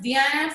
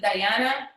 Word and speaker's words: Diana: my name is the i pronounce diana some people pronounce it diana either one is fine okay so learning objectives